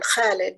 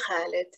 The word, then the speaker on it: Khalid: not name my son Khalid because Americans couldn't pronounce it. Now I wonder about such wisdom. Even my 8-year-old could constrict her throat muscles the right way to say Khalid, immortal like an ancient